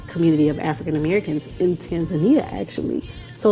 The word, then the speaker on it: Tanzania: People pronounce it very different, but it's Tanzania.